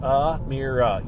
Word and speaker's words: Amira: Next up, Amira Jones, and it's pronounced Amira. Yep, it says pronounced Amira.